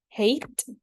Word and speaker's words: hate: This pattern has a silent E at the end that makes the vowel before it says its name, turning into a long vowel sound.